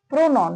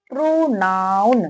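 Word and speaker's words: pronoun: बहुत सारे व्यक्ति से क्या बोलते हैं, प्रोनाउंसिएशन क्या करते हैं, प्रोनाउन, प्रोनॉन, प्रोनॉन, लेकिन ये प्रोनोन नहीं है। प्रोनाउन।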